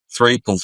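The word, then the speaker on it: Threapleton: Um Mia, uh I don't want to call her Mia Winslet, which is part of she's credited as Mia Threton. Threeton.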